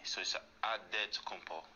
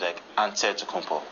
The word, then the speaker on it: Antetokounmpo: You gotta say with a D, so it's Antetokounmpo. But in the Greek way, you say with an NT, like Antetokounmpo.